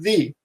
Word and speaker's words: the: was and they said why did you pronounce it duh and I said what do you mean they said well it's a vowel we were taught that before vowels you have to pronounce in thee mm-hmm so it's not